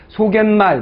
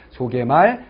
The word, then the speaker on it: 소개말: 소개말, 머리말, 인사말, 반대말, 예사말이 됩니다. 표기와 발음이 동일합니다. 무슨 말 알겠죠? 그러니까 이거예요. 소갯말 이렇게 하시면 안 된다. 소개말입니다.